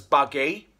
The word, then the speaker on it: Bugg: We should pronounce him as Buggy.